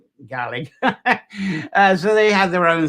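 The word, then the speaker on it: Gàidhlig: the spelling there and that's now today pronounced something like garlic uh so something it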